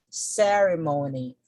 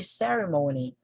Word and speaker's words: ceremony: a consonant plus y so this is already an indicator that stress falls on the first syllable we see battery battery currency currency currency artistry artistry artistry ceremony ceremony it has